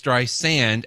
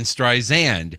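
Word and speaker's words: Streisand: apparently it she insists that it is stri sand as in the sand on a beach right and not a z as in stri zand but apparently she Who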